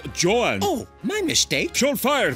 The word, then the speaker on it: Joan: No need, John. It's pronounced Joan.